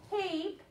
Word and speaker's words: tape: Okay, so that E at the end of the word tape is silent.